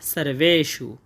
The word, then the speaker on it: সর্বেষু: তাই জন্য আমরা এর উচ্চারণটা করব সারভে সু এবং শেষে মূর্ধন্য স হওয়ার কারণে এর উচ্চারণটা আমরা গভীর থেকে করব। সারবে সু আমরা প্রথম চরণটা পেয়ে গেলাম। অয়নেশুচা সারবেশু।